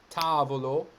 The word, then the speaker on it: tavolo: jet lagged so um you see here we have tavolo and those syllables are all long within those syllables so we have the first syllable and then the next two so even though there's four syllables in the word the fact that the anti-penultimate syllable is long is what counts phrasal doubling a very